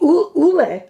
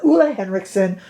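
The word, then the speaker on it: Ole Henriksen: cheap I'm just saying affordable for highend the Ule let me say it right the Ole henriksson PR pout preserve is absolutely stupendous in this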